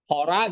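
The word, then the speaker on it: ὥρᾳ: Kalau a dia genitifnya pasti jadi as hora jadi horas. Datifnya A tapi ada iota subskrip di situ. Hora juga bacanya.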